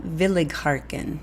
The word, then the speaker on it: Willighagen: on an amazing Young Lyric soprano called Amira Village harken and he actually phonetically spelled it for me which I appreciate